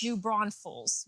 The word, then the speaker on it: New Braunfels: New Braunfels. There's no S in the middle.